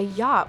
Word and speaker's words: yacht: Any rich person who owns a yacht would want for the ride to be just the way they pronounce yacht with the C silent.